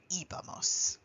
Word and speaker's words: íbamos: this accent both in writing but also in pronunciation you do want to be sure that you say íbamos we have actually seen instances when we were